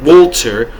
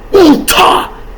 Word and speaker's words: Walter: Not Walter or Walter. Ulta. That's how you say it.